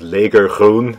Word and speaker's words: leger: mixed up a color called Leger that's how the Dutch pronounce it it basically means army